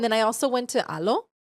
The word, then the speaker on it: Alo: Alo. Yeah. Alo.